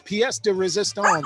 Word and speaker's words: pièce de résistance: It is pronounced the piece of resistance, but yes, pièce de résistance.